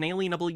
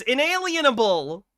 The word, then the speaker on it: inalienable: ourselves an alienable University the word inable is they always mispronounce it the word in lienable is the most overlooked word in our Constitution and it's inalienable as it as in it cannot be alienated from you it cannot be